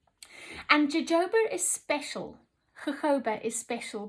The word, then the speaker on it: jojoba: tropic smoothing cleanser has golden jojoba oil or jojoba as i was inc correctly pronouncing it for a long time and jojoba is special jojoba is